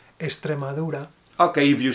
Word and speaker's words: Extremadura: I would say Extremadura. Okay, if you say Extremadura, it's fine. Yeah. This is the real one, but in Spanish we are lazy with the X.